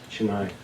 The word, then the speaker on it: Chennai: Thomas, the church for Thomas in, am I pronouncing correctly, Chennai? Chennai.